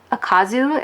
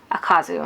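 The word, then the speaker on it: Ukazu: I actually specifically learned how to pronounce it because I was doing a recommendation video for a collab thing, and I actually learned how to pronounce it, and I think it's Akazu. I think that's how you pronounce her last name.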